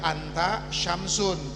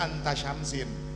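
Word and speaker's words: أنت شمسٌ: Makanya dibacanya menggunakan dhammah karena urutan tarkibnya menjadi seakan-akan mubtada dan khabar. Makanya anta syamsun tidak dibaca anta syamsin.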